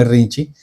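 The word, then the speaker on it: Irrintzi: Este grupo se llama Irrinchi. Escribe Irrinchi. Y yo me puse a buscar qué es Irrinchi. Irrinchi es y ahí fue que descubrí que se pronuncia irrinchi. Un grito de júbilo vasco es el nombre.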